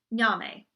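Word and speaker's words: Nyame: day again all caps is Nami but God the sky God you would spell that n why a M e ya may enter that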